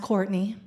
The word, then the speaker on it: Cortney: I was just like, it's pronounced Courtney.